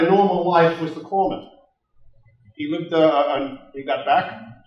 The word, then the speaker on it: corpsman: And it's pronounced corpsman. Not corpsman.